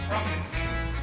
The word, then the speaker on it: Frankenstein: My name is pronounced Frankenstein. If you say so.